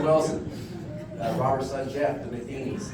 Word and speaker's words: Matheny: Russell Wilson, Robert's son Jeff, the Matheny's, obviously Coach Matheny is how you say it, and Pat Matheny.